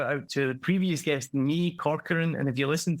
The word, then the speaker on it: Nhi: And I actually said it right on the podcast because it's NHI, so it's Nee.